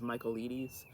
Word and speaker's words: Michaelides: Nobody knows how to say his last name right, but I think it's Michaelides. Or at least that's how I like to say it.